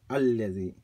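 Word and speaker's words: الذي: If you are beginning a sentence or an ayah that begins alladhi, you do read the alif, alladhi.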